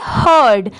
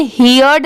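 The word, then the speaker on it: heard: ही इसे क्या पढ़ेंगे हर्ड यहां पर इसे हियर्ड नहीं पढ़ेंगे इसकी साउंड क्या आएगी हर्ड एच ई ए आर डी हर्ड अ फेंट इसे क्या पढ़ेंगे?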